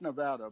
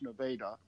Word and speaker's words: Nevada: in a place called Nevada Missouri spelled like Nevada but pronounced Nevada in the southwest corner I know I know